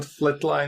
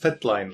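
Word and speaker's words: fatline: just realized I mispronounced it's not Flatline it's just fat line right oh fat line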